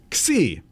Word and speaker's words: Xi: one and it's uh pronounced c but it's spelled x i and so the world